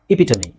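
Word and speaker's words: epitome: ಓದಕ್ಕೆ ಬಂದ್ರೆ ನೀವು 100% ಇಂಗ್ಲಿಷ್ ಪ್ರೊನೌನ್ಸಿ ಕ್ಲಿಯರ್ ಆಗುತ್ತೆ ಇಪಿಟಮಿ ಇಪಿಟಮಿ ಓಕೆ ನೆಕ್ಸ್ಟ್ ಇದು ಎಚ್ಚ ಅಲ್ವಾ ಚಯಾಸ್ ಆಗುತ್ತಾ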